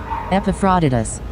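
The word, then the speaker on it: Epaphroditus: a lot going on in the background epifodus. All right that's how you pronounce it.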